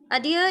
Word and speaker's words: adhere: One is this, which is a schwa, right? Then you have d, right? The second sound of d, then h, and then long e sound, okay? And then again schwa sound.